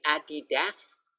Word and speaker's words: Adidas: Repeat after me, Adidas, Adidas.